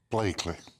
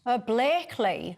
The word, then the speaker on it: Blackley: Graham to educate you on how to say Blackley? Blakely. Blakely.